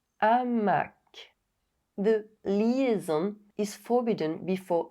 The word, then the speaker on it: hamac: This apostrophe indicates an aspirated H. Both links are in the description. En haut, un hamac.